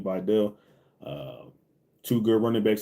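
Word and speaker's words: Vidal: things like that with Vital and Patterson or Videl, that's how you say his name, Videl.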